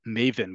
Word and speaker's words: maven: field of information right Maven comes from the Yiddish pronunciation of the Hebrew word mavin understands okay so even